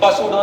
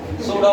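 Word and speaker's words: pseudo: स्यूडो force, P silent है, पसूडो नहीं है, सूडो फोर्स, पी साइलेंट।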